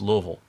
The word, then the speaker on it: Louisville: your mouth this little pretend you've been to the dentist and they've put some novocaine in there and just try not to open your mouth very much or like Louisville versus like Versailles what